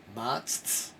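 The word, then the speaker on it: matzah: called not so it's it's hard to pronounce matz and then t and then saa so you're gonna go matsa well what it is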